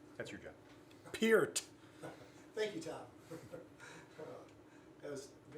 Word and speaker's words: Peart: Who can pronounce Neil's name correctly? That's your job. Peart.